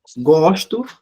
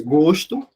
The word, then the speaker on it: gosto: Por exemplo, gosto, aliás, gosto, que é um substantivo, e gosto, que no caso está na primeira pessoa do singular, que é o verbo gostar. Observem aí, ó. Eu só mudei a forma que eu pronunciei, ó.